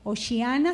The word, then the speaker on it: Hosana: Bueno, osana se pronuncia y significa sálvanos ahora o sálvanos ya.